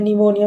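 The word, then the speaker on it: pneumonia: निमोनिया से पीड़ित है इसमें निमोनिया में पीस साइलेंट होता है वह निमोनिया से पीड़ित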